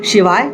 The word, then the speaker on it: शं: दोस्तों, शं बोलना है, श में शम नहीं बोलना है, मौ नहीं लगाना है, ग लगाना है। शं शनैश्चराय नमः। हम जल्दी में बोलते हैं शम शनैश्चराय नमः, लगता है शम मौ का उच्चारण आ रहा है, लेकिन मौ का उच्चारण ना आए, भले हम जल्दी में जैसे ही बोल रहे, पर ध्यान रखना है कि शं शनैश्चराय नमः ये बोलना है।